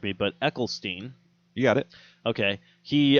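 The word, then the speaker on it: Eccleston: is funny because, um, I always pronounce his name wrong and then people always correct me, but Ecklestein.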